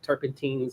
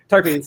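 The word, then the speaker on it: terpenes: us learn about like tarpentines, different types when we actually tour tarpines. Yes, sorry, I always say it wrong too. Turppins. So, so turppins uh and stuff like that.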